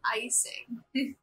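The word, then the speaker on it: Eyecing: Next up, we have Icing, and it's spelled E-Y-E-CING. So Icing.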